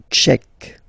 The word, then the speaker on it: tchèque: La République tchèque. So remember, Q-U-E, K, K, Tchèque. La, and then here as well, République. La République tchèque.